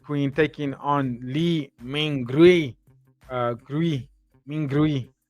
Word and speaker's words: Mingrui: Mingrui is how you say it.